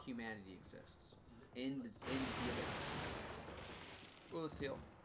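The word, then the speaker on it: Oolacile: Ulaseel. It depends on your pronunciation, but they pronounce it in the game as Ulaseel.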